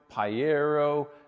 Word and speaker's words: Pajero: We've got another Pajero, however you say it, it rhymes with sombrero mini again.